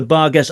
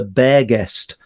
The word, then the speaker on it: Barghast: The bar guest. I think there's a few pronunciations. In some quarters, it's called the bear guest as in resembling a bear.